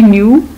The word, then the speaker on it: knew: ही न्यू ही was wrong. अब इसमें न्यू में के साइलेंट है और रॉन्ग में डब्ल्यू साइलेंट है.